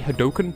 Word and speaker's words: Hadouken: I prefer pronouncing it Hadouken, even though it's almost definitely Hadoken, because Hadouken, it's just funnier to say.